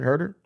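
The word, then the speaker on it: Huerter: __ ] bulls man hurt her is that just how you pronounce it herder oh good I've been trying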